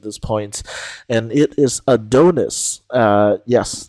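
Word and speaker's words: ADONXS: point and it is a Donis uh yes that X is pronounced like an i because um artist name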